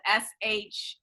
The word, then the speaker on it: Sheilah: name speaking of rona my first name is spelled s-h-e-i-l-a-h like rona so sheila and then